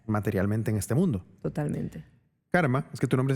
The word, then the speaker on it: Carme: en este mundo totalmente karma es que tu nombre se escribe Carmen con c pero la e es se pronuncia como a en catálogo hay tres maneras diferentes